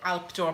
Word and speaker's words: Alpesdor: So you don't pronounce the S, Alpdoor, with a bit of a Swiss accent, I think, or a Belgian accent kind of thrown in there.